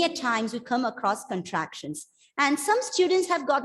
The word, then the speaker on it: contractions: to pronounce it as contractions but remember it is contractions the stress is on the penultimate syllable as we have learned